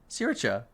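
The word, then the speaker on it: sriracha: the door the music siricha for sushi do you say siricha yeah that's the problem that's the proper pronunciation siracha okay i was told that by a thai friend of mine and it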